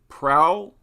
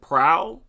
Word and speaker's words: Proulx: I'm not sure how to pronounce his name Tyson prowl is it proud I assume the x is silent Tyson and his last